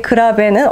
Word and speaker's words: grave: 무겁고 느리게 그라베는 어떻게 읽나요, 선생님? 그라베. 그라베. 그라베. 이탈리아어 할 때 이렇게 하는 거 맞나요? 이게 발음을 많이 굴려주면 좋습니다.